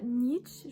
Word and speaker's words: Nietzsche: cette vidéo je vais vous parler de pourquoi Nietzsche je sais pas vraiment si ça se prononce comme ça est un philosophe controversé tout